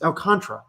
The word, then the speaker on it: Alcantara: so you're just saying you don't pronounce the last a it's al contra dude it does not